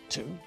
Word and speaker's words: two: letters in numbers one two three well there you go don't you the second number in that set of three we don't say no the w is silent all right now moving